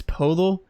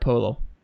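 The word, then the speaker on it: Poeltl: it on broadcast before it's polo and I've heard it many times dude I don't know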